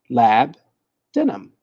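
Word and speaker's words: labdanum: that's so kame me the U confuses me why can't why can't I just say lab denim because that's exactly how you say it lab denim it's exactly how you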